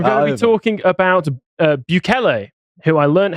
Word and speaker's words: Bukele: No, Don't put your hand up shortly after saying I'm going to be talking about Bukele, who I learned how to pronounce his actual surname.